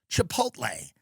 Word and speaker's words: Chipotle: at chipot Chipotle Chipotle is it the Ellie at the end because some people pronounce it the other way I don't I agree it's Chipotle you're texting about you